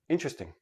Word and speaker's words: interesting: you to understand that the word is interesting but in everyday speech interesting i have four syllable syllables when i actually say it naturally it becomes three syllables and the t and the r becomes like a ch but that's we'll talk